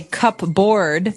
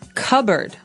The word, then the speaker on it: cupboard: So you might want to say cupboard because it's cup c u p b o a r d. That's not right. The word is pronounced cupboard.